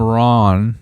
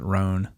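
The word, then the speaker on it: Rohn: so motivation motivational speaker Jim Ron or Rhone that's probably I think you pronounce it Rhone anyway he said once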